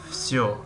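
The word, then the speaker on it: всё: در کلمه وسیو، وسیو، همه، وسیو، همه می نویسیم وسیو، اما تلفظ میکنیم فسیو، فسیو.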